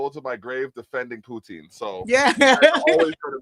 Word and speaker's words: poutine: Yeah, poutine.